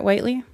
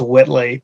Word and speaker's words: Whitley: commissioner o'reilly hi commissioner whiteley so just a small correction my last name is pronounced whitley but i have a